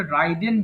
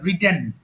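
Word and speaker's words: ridden: রাইড আরোহণ করা, রাইড, road, রিডেন, এটা অনেকে ভুল করে রাইডেন বলে ফেলে, এটা রিডেন।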